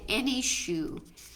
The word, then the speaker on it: Enyshou: the Zentangle pattern called Any Shoe. It's ENYSHOU. And Any Shoe, Can you spell that again? Right. ENY, not ANY like you think it should be.